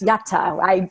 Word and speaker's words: yata: as opposed to saying, actually, it's yata. I know it's weird, or I know it's uncommon, but you pronounce the T's. So, and then you can come up with a different mnemonic of some sort, like, or a yada, but with a T in the middle, yata, whatever you like.